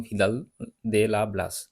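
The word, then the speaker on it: Vidal de la Blache: রিটার Peter হ্যাগেট এবং ভিদাল দে লা ব্লাস বা ভিদালদা লা ব্লাসে যে যেমন ভাবে বিষয়টা উচ্চারণ করে এখানে হাম্বোল্ট রিটার এরা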